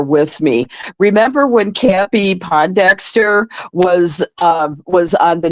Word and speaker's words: Pondexter: you were there with me remember when campy Pondexter was um was on the New York Liberty and Bill lambir was the coach yeah well I had mispronounced the name to as po Dexter and and Bill lamb beer looked at me